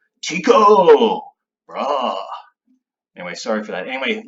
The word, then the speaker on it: Tycho Brahe: first one and there's two different ways of pronouncing his name Tycho Brahe I'd be this guy some people pronounce that Tycho Brahe hey like I know my university professor what